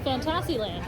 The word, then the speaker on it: Fantasyland: Fantasyland. Yeah, accent on the TAS.